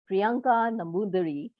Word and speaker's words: Priyanka Nambudiri: excited to include uh and invite our guest priyanka namoodhari princa have i pronounced your name right absolutely right fish tea